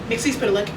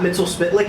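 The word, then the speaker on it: Mxyzptlk: Mixy Spitlick. Is it not Mel Spitlick?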